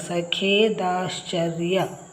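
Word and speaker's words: ಸಖೇದಾಶ್ಚರ್ಯ: ಮತ್ತೊಂದು ಸಖೆ ದಾಶ್ಚ ಚರ್ಯ ನೋಡಿ ಸ ಖೇ ಇದು ಖೆ ದೀರ್ಘ ಕೊಟ್ರೆ ಖೇ ದ ಶ್ಚರ್ಯ ಶ ಗೆ ಚ ಒತ್ತು ಶ ಮೊದಲು ಉಚ್ಚಾರ ಮಾಡ್ತೀವಿ ಸಖೆ ದ ದಶ ಶ ಇಲ್ಲಿ ಅರ್ಕ ಒತ್ತು ಆದ್ಮೇಲೆ ಯ ಸಖೆ ದಾಶ್ಚರ್ಯ ಈ ವಿಡಿಯೋದಿಂದ ಮಹಾಪ್ರಾಣಾಕ್ಷರದ ಪದಗಳನ್ನು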